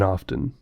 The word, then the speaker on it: often: the little voice says often. And then on the other website, it sounds slightly different and says often. And I guess it surprised me that none of these websites pronounce the T in often.